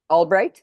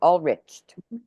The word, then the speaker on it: Ulbricht: on Ross uh all Albright am I saying it right all riched yeah Al all rich and uh yeah we're